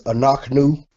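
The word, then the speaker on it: אנחנו: This word is anaknu, being the shiwa. Anaknu. Got your aleph, your quamats. Got your noon with your patak, your chet with the shiwa, noon, followed by the shuruk, anaknu.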